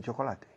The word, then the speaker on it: chocolate: Hormigas de chocolate. Ah, chocolate ants? Yeah, it's very good. Have you tried chocolate ants? En inglés, chocolate se pronuncia chocolate. Dos sílabas. Chocolate. Chocolate. No chocolate.